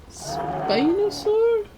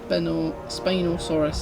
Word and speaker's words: Spinosaurus: At number 58 is, I always say this one wrong, Spinosaur?